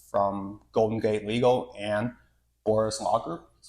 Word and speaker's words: Bourhis: name is it French it's technically bhes what's bhes bhes is the French pronunciation of my last name but we we butchered that when we my family came to the US oh I I didn't